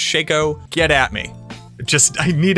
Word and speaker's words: Shako: Also, Joe Popora said Shako, not Shako. It is confirmed that's pronounced Shako.